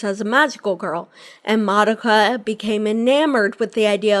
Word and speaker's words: Madoka: Madoka.